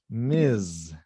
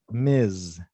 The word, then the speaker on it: Ms: be any man and the pronunciation is mis miz because the pronunciation here is miss right miss and miz miz ms anderson encouraged encouraged